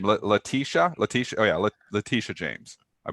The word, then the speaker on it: Letitia: Letitia.